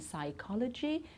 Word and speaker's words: psychology: beginning of certain words we don't pronounce the p in psychology psychiatrist pseudo okay so we don't